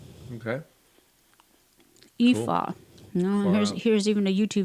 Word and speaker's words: Aoife: pretty much ignore the first two letters when you pronounce Ignore the it first and two letters. simply say Aoife.